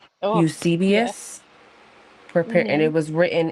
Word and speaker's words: Eusebius: It's a hard to pronounce name. But it's Eus- Eusebius? Eusebius.